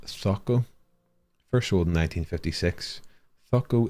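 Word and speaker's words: Zoco: Pronounced Thoko.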